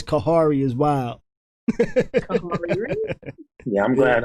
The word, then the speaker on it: Khary: day what you mean my name isn't kari he said it's actually pronounced kahari i'm like kahari he